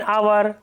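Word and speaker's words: hour: Next, an आवर, एन एयर, an honest man etcetera. ये एच जो है silent है यहाँ तीनों वर्ड्स में, ये देखिए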